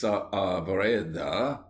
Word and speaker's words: Saavedra: At Lepanto, Miguel de Cervantes Saavedra, please pronounce the A's separately, was about 25 years of age, and was lying below deck, sick of a fever.